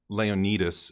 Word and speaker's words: Leonidas: I think it's pronounced Leonidas at least that's how they pronounce it in the game from Assassin's Creed honestly